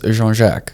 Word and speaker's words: Jean-Jacques: like yeah exactly Jean-Jacques so that's the Afrikaans way of pronouncing that so the it's a French name essentially so jean-jack is is how you would say it in one go what does it mean